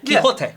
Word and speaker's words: Quixote: Is that how you pronounce it? There's an X in there, right? Yeah, Quixote.